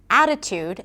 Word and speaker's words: attitude: For example, in the word attitude, the primary stress is on a.